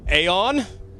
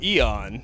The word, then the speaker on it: Aeon: City with Aon or Eon how do you guys pronounce that um that would depend on what side of the Atlantic Ocean you are the the guys in England they seem to say Aon while you guys over